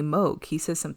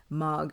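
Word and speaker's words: Mogh: But he pronounces it differently. He doesn't say Moog. He pronounces it like Mog or something.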